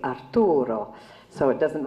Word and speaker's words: Arturo: And of course, in the Italian script, you pronounce it completely differently, so it doesn't rhyme. So they hadn't seen the joke in this. In other words, her name would be Marta, and his name would be Arturo.